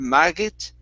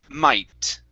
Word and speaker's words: might: might okay now um when you see a gh in english typically that is going to be a silent sound okay so that gh when they're together they will not make a sound in most cases okay not every case but in most so instead of marget it's might try that might good